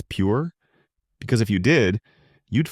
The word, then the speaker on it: Pierre: South Dakota Pierre wrong she kept saying Pierre two syllables like the French name and he said it was pure one syllable like what you fish off of he